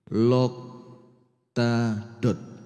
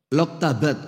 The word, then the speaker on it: Loktabat: Hadirin sekalian, ibu-ibu dan bapak-bapak jamaah Masjid Hajah Nuriyah Loktadot. Loktabat. Oh, kebalik bacanya.